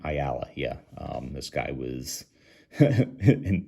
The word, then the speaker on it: Ayala: Ayala, is that how you say his name? Ayala, yeah.